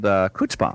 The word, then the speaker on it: chutzpah: I said, well, I think it looks like it's spelled with a K, isn't it? It's actually a CH, and it's got that That's right. That's right. that thing. It's got that thing in it.